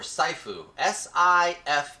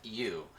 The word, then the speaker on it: Sifu: We've also got, I think it's pronounced, is it Sifu or Saifu? Sifu.